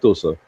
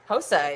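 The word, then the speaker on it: Xhosa: in the Western African places, you do actually pronounce some of those things. As far as I know, I don't speak Tosa, so don't sue me. Hosa, yeah.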